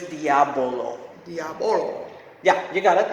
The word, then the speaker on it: Diabolo: Yeah, you have to be careful how you say it because if you say Diablo, you're going to be saying devil in devil, Spanish. yeah. So it's Diabolo.